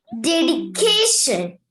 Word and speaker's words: dedication: We are not saying dedication. We are using the sound D. Okay? Dedication, and also using the plosive ka there. Okay, it's not dedication.